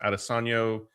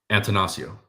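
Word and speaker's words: Attanasio: And then executives Mark Adosano. Uh, I I completely butchered that. The, uh, Brewers guy, Antonosio. Antonosio. There we go.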